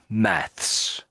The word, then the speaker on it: maths: The Brits say maths, but the Americans say math. So you can always tell if it's an American because they'll say math.